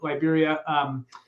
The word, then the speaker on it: Liberia: You can fly into San Jose, which is the capital city, or you can fly into, I always say it Liberia because it's just pronounced in Spanish, but Liberia, which is on more of the Pacific coast, and it's a much smaller airport.